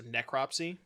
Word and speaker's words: necropsy: Oh, the first syllable is stressed, so necropsy.